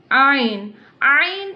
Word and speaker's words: ع: Ain pronounced from the middle part of the throat.